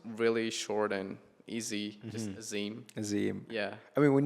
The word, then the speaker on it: Azim: But my name was really short and easy, just Azim.